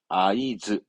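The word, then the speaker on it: 合図: 수신호 하든 눈짓으로 신호하는 그 신호를 말한 단어입니다 발음은 아이즈 아이즈 이것도 이제 n2쯤 되면 많이 나옵니다 아이즈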